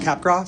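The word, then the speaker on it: Capgras: Pronounced Capra.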